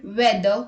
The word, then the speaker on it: whether: H is not pronounced when it comes after W. Some speakers whisper the H before the W. Let's look at the examples. What, when, where, whether, why.